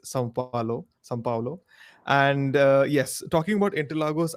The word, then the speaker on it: São Paulo: It's not Sao Paulo, and I often say this every year. It's São Paulo. São Paulo. It's not some. It's actually São.